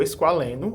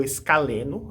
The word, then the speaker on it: esqualeno: h e do ATP formando o esqualeno ou escaleno a pronúncia tanto faz que com dois átomos